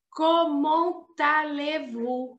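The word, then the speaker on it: Comment allez-vous: e sílaba por sílaba diz assim comont levu é tudo junto como se fosse uma palavra só isso é uma coisa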